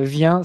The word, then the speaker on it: Viain: préciser, s'il y en a qui ne te connaissent pas, Vien, ça s'écrit V-I-A-I-N. Ouais, ça c'est pas évident.